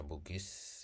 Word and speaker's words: Bugi: Sebutan Bugis muncul akibat pelafalan lokal atas kata Bugi, bukan karena keterkaitan dengan suku Bugis di Sulawesi Selatan.